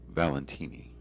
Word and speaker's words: Valentini: Yep, and it's pronounced Valentini. Yeah, then it's Italian.